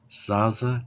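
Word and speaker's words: Sasse: So his last name is Zaza. It's S-A-S-S-E, Dr. Christian Zaza, it's pronounced.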